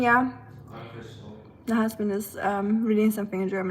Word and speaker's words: Anfechtung: Anfechtung, yeah. Anfechtung.